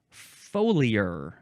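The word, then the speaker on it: foliar: Next is folure. Folure. F O L I A R. It's a faux liar.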